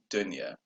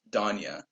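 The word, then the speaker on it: Donia: called donya but the way you're supposed to pronounce it is dunya but i the way she always introduced herself as donya um who that's off so yeah so everybody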